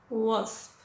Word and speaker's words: wasp: Tener cuidado no hacer el g, guel o wasp. No, es well, wasp, wood, wound.